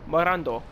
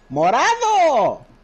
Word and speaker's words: morado: Rojo, Naranja, Amarillo, Verde, Azul, Morando. Did I say it correctly? What was it? Rojo, Naranja, Amarillo, Verde, Azul, Morando. Morado!